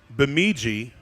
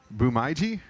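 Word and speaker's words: Bemidji: I mean cuz because phonetically phonetically it should be Biji but knowing from my time in Texas how they change alphabets and and consonants. Beji is it bumiji bumiji.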